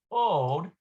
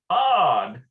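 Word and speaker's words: עוד: we have uh ma ode he lo medet okay so what also is she studying i think that's what that ode means here yeah like more or less it's actually pronounced odd ah isn't that something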